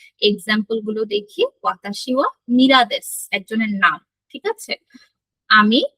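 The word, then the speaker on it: ミラー: গুলো দেখি, ওয়াতাশি ওয়া মিরাদেস একজনের নাম। ঠিক আছে? আমি মীরা বা মিলার, এটা হচ্ছে মিলার, মিলারটা জাপানিজ উচ্চারণ হয় মীরা, ঠিক আছে।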